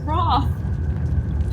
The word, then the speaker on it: Roth: We call ourselves Roth. Roth. The L is silent.